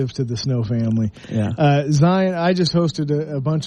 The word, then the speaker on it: Zion: made it big and his name is z IO n and he pronounces it Zion and so I think